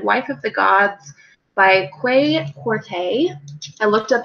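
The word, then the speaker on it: Kwei Quartey: I read Wife of the Gods by Quay Corte. I looked up how to pronounce his name, so that is correct.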